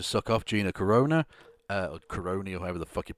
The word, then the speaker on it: Carano: You're the one that was literally trying to suck off Gina Carano, or Caroni, or however the fuck you pronounce it. Carano, and saying, oh, they need to boycott Disney.